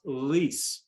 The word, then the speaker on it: Arelis: All right, we're not going to worry about the first name because it's pronounced Arelis.